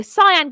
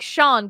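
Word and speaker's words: Siân: In my head, I'd look at her name and I go, Cyan Gibson. No, it's like Sean Gibson. That's how you say it, isn't it?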